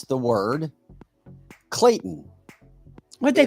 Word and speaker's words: Clayton: past first second third grade if you can't pronounce the word Clayton it's Clayton yeah I heard not Clayton or words like